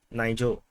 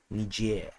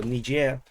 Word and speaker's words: Niger: previously I call it Nigel uh so apparently the correct pronunciation is actually more Frenchy is Niger so Niger uh is uh a